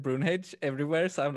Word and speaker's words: Brunhage: And it's like the in Swedish we used to say Brunhage, okay. but then like everybody has said Brunhage everywhere, so I'm like, yeah, it's that now.